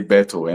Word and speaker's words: Berthou: Um actually um okay back home in Ghana we used to say BTO and that's all like Roberto Carlos Bberto Betto and that's all.